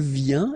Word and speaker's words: vient: Then il vient, exactly the same sound, because final T here is not pronounced.